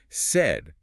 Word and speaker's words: said: Said is pronounced identically to the emotion sad, but with a slightly tighter, shorter A sound. Said, your mouth barely opens.